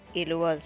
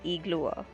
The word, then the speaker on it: Ilua: So that's how you pronounce Ilua's name. It's not Iglua. It's Ilua.